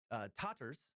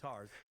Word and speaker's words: Tatars: Or, actually, sometimes it's called Tatars, depending on which pronunciation guide you look at. The correct version seems to be Tatars.